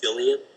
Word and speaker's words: psyllium: say my favorite plant for Digestive Health is zillian p s y l IU M um yeah and we'll spell it out underneath the video great thank you